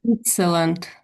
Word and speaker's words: Switzerland: Um, Also, go back to Switzerland. I think it's the T and the Z sound here is a bit tricky for you. So Mhm. Switz, Sweet, Switzer, sweet, Switz, Switzer, sweet pizza. Swi Switzerland.